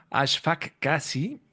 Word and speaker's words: Ashfaq Kasi: Está con nosotros Ashfaq Kasi, creo que lo pronuncié bien.